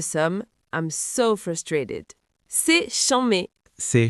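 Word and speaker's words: chanmé: C'est chambé. C'est chambé. Attention à la prononciation.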